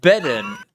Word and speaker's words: Bedan: And the Lord sent Jerubbaal and Bedan. B-Day. It's pronounced B-Day. Bedan. Oh, it's Can we do a petition to ban cat peasant?